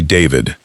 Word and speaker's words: D4vd: The world knows him as D4VD, spelled with a four, pronounced simply David.